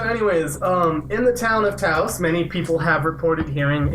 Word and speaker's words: Taos: I hope I pronounced that right. Taos.